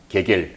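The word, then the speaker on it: Гегель: 네, 그런데 우리 독일 철학자 헤겔, 네, 헤겔, 러시아 말로는 게겔. 우크라이나 말로는 그냥 헤헬.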